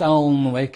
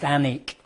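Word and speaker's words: Alnwick: but it's not pronounced Alwick, it's pronounced Anik. So, not only is the W silent, the L is also silent. So, Anic Castle.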